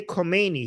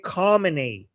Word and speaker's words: Khamenei: So I know he cannot say the kh sound, but he shouldn't say Khomeini. He should say, like in his pronunciation, he should say Khamenei.